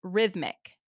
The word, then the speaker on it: rhythmic: Next word is rhythmic. R H Y T H M I C. Rhythmic. That is a bit hard to spell. Rhy. Yes, that first H is silent.